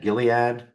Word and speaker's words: Gilead: the nalian with gilad Gilead never never remember hard G soft G somebody told me that a while ago just